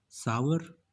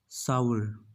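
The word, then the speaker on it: sour: सावर? नो, it's wrong. It इज़ सावर।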